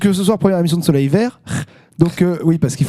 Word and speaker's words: Sauleyvèyhhh: Donc comme le Y n'est pas prononcé, c'est Soleil Vert.